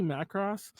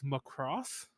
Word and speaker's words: Macross: Anyway, speaking of Macross, and by the way, I say Macross every so often. Like mispronouncing things is my thing, but we it's most notable because we do a thing.